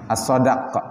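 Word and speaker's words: الصداق: As-sadaqu, as-sadaq lughatan bi fathis sad, dengan menfathahkan huruf sad, jadi dibacanya as-sadaq.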